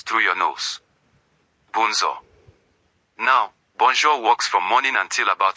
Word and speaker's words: bonjour: Bonjour. Bonzo. Remember that J is joy and the on is nasal. The sound goes through your nose. Bonzo. Now, bonjour walks from morning until about 6:00 p.m.